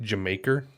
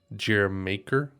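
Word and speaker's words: D'yer Mak'er: so here's okay so apparently it's pronounced like in an english accent saying jamaica so like jamaica jeremiaker i think that's how you say it um apparently that's like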